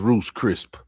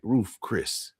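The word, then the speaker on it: Ruth's Chris: I was Roose Crisp. I went to Roose Crisp last. Yeah. Say it right. Ruth Chris.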